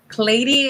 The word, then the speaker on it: Cleiri: It's gonna be pronounced the same way, but spelled differently. But it's perfect. It's Clady, and I believe it's Italian.